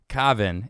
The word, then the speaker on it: Kaavan: Yeah, I don't know how to pronounce it. It's Kaavan. Kaavan.